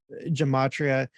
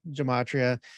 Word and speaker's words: gematria: gematria and does the gematria so to speak work with other languages or is it just viewed like in the hebrew context well first it's a hard g it's a matria if you can pull